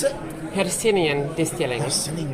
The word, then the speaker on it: Hercynian: How do you pronounce it? Hercynian Distilling.